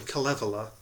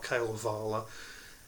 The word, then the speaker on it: Kalevala: pronouncing that tell that sorry Kalevala not Kayla Varla something now needs to shake